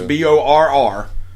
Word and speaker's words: Borrego: Borrego. James Two Borrego. R's. Borrego.